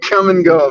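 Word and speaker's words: Kum & Go: Come and Go, man.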